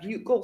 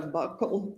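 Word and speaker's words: buccal: So a bugle swab or a buckle swab depending on different people say it different ways.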